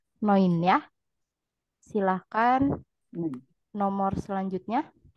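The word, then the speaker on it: neun: sat sudah benar eh sedikit kesalahan pengucapan pada angka 2 dan 9 untuk angka duai untuk angka 9 Noin Ya silakan nomor selanjutnya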